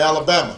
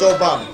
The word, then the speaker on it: Obama: name barack obama although they wouldn't say it right and they'd call me alabama or they'd call me yo mama and i'd have to explain i don't have to explain my name's obama and my father was